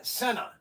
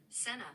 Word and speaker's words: Senna: Now the correct way you say this is Senna. Okay. He died in 1994 in Italy. Pronunciation. Okay, let's do it. Ready? We're going to do this pronunciation. Senna.